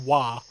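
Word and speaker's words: Waaagh: Yeah, that's pronounced Wah. Wah.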